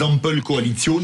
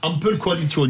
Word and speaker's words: Ampelkoalition: Vous savez, comme font les Allemands, les Ampelkoalition, comme ça s'appelle, les coalitions des feux tricolores. Ampelkoalition, jawohl, Frau de Minibus. Entre Minibus, enfin, je l'ai prononcé à l'allemande, excusez-moi, avec les Verts, le orange, les libéraux, le rouge, le SPD.